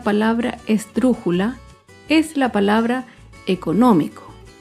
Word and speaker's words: económico: Por último, otro ejemplo de una palabra esdrújula es la palabra económico. Económico se acentúa en la antepenúltima sílaba.